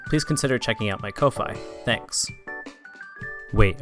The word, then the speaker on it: Ko-fi: Or if you enjoy my content, please consider checking out my Ko-Fi. Thanks. Wait, I think it's pronounced coffee.